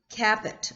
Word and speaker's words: Kaput: name is Kate, and her last name is spelled K-A-P-U-T, Kaput, although she probably pronounces it Caput or something like that.